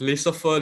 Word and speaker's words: laissez-faire: This word is pronounced laissez-faire leaders.